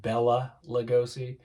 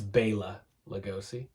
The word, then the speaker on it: Bela Lugosi: It always pisses me off when people pronounce it Bela Lugosi. The only time I say Bela Lugosi is when I'm singing along with Bauhaus. It's Bela Lugosi.